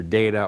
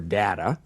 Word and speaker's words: data: this for a minute the word data which by the way can pronounce either data or data some some do one some to the other is the plural of